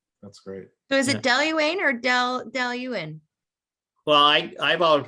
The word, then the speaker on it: Dailuaine: It's don't pronounce the E at the end. Dailuaine.